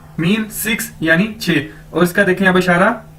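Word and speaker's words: 七: छी mean seven सात Chinese अंदर क्यू असर को हम छह के तौर पर प्रोनाउंस करते हैं जिस तरह इंग्लिश में सीच होता है तो इसी तरह उर्दू में छह ठीक है तो क्यू भी छह के छ की तरह प्रोनाउंस किया जाएगा तो क्य आई मीन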